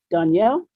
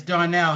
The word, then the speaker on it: Darnell: to pronounce it right is it danielle warren danielle or uh it's uh it's darnell how are you um